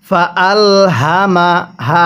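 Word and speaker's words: فألهمها: হা আলিফ জবর হা ফা আল হামা হা স্মরণ রাখবেন এই জিলাপির পেজের মত যে হাগুলো আছে অর্থাৎ গোল হা যেগুলো আছে এই হাগুলো উচ্চারণ করার সময় আমরা গলার মধ্যে এক প্রকার একটু আওয়াজ করব তাহলে হাগুলো সহি শুদ্ধ উচ্চারণ হবে তাহলে কিভাবে পড়বো ফাআল হামাহা অনেকেই এটাকে ফাআল হামাহা এরকম ভাবে পড়ি এরকম ভাবে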